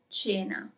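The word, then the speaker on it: cena: Cherto dinner is China.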